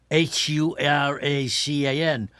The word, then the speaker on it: Huracan: and I said it the American-wise only so people would understand the Yeah, but but the Mayan pronounced it H U R A C A N.